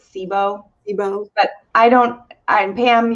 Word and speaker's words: SIBO: constipation bloating digestive issues cybo is that how you say it you know this is such a good question i pronounce it sibo but i don't i'm